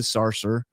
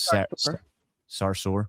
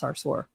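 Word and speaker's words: Sarsour: school and business shutdown with anti-Israel activist Linda Sarser whatever her name is Sarsur. I mean I don't really give a if you say her name correctly, but it's pronounced Sarsur.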